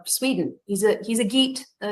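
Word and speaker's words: Geat: he's a he's a geet sometimes it's pronounced yet but it's spelled g-e-a-t he rules for 50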